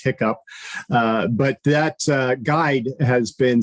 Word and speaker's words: HICCUP: You can look, there's a guide called the Health Industry Cybersecurity Practices Guide, which my staff affectionately pronounces HICCUP.